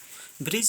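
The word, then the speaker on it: bridge: ब्रिज आपको दिया है, ब्रिज में क्या साइलेंट होगा, D।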